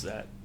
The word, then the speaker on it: Z: Oh, except it's pronounced Zet.